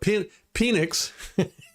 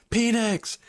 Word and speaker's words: Penix: He was like, "No, my name is Penix. It's pronounced Penix." I'm like, "Yeah, that's never gonna work, buddy. It's Penix."